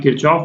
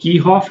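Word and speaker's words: Kirchhoff: ठीक है, अच्छा ये मैं एक बार बोल दूं कि जैसे इसको मैं किरचॉफ बोल रहा हूँ, हालांकि इसका करेक्ट प्रोनाउंसिएशन जो है ना वो कीहॉफ है।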